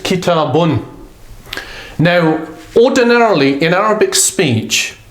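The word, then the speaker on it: كتاب: So it will be pronounced kitabun.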